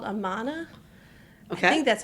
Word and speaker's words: Amana: It's all of the appliances in the house, I'm pretty sure are, and it's a brand called Amana. Okay. I think that's how you say it. Amana, yeah.